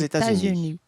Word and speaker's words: États-Unis: Os États-Unis. Os États-Unis. Vocês podem perceber que algumas coisas são pronunciadas, outras não, mas o som é esse, États-Unis. États-Unis.